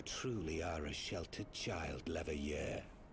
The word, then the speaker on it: Leveilleur: You truly are a sheltered child, Leveilleur. Every time I forget that that's how that's pronounced, and pronounce it Levillier.